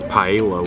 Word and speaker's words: paella: All right, so the cast member told us is that it's actually pronounced paella, which Paella. Paella. That's actually, that's exactly how it's spelled too, so I guess I was kind of overcomplicating it.